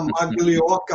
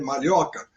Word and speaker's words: Maglioca: Então, eu com esse sobrenome que vocês estão vendo aí, que é italiano, que muita gente ainda fala Maglioca, mas a pronúncia correta é Malhoca, fui chamado de Maloca, Minhoca, e outras coisas mais, além de narigudo e outras coisas.